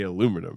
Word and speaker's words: aluminum: It's just the Brits say aluminium and you guys say aluminum.